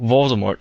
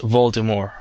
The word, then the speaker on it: Voldemort: Remember, the T is usually silent in French words when it's at the very end. For example, Voldemort is pronounced Voldemort.